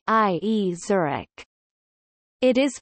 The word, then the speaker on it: Zurich: Zurich. It is pronounced Z-E-W-R-I-C, and more recently sometimes also with T-S, as in German.